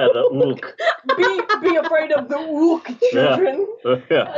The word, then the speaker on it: Hulk: Is what it would be, because the J is an H. Can I ask you a question? And then the H is silent, so the Incredible Hulk is just Ulk.